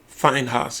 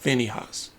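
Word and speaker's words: Phinehas: Finehos is the way you pronounce it. Not Fineyhos. Fineos.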